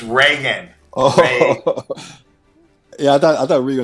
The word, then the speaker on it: Reagan: I'm like okay well what do you mean Regan Reagan the president yes he never liked him it's Reagan okay yeah I thought Rio somebody from the